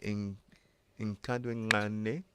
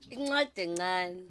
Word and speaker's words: Incwadi encane: Is it in Kadwingane? Incwadi encane.